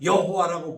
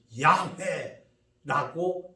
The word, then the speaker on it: YHWH: 그분이 이스라엘 사람들이 말한 여호와라고 부르는 것인데 사실은 YHWH처럼 읽을 수 없는 건데 몸을 마음대로 집어넣어서 여호와 혹은 야훼라고 말한 것뿐이지 발음할 수 없는 하나님의 이름이야.